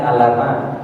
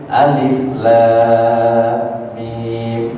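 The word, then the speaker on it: الم: Kita baca alama i kan ya. Tapi karena kita belajar sama guru kita, kita jadi apa? Jadi tahu alif itu dibacanya alif lam mim.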